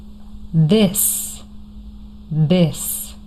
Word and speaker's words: this: They they then this this these these. The difference between the last two words is a short I and a long e sound.